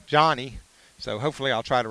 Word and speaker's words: Yanni: to Johnny this afternoon his uh name is spelled y n ni but he pronounces it Johnny so hopefully I'll try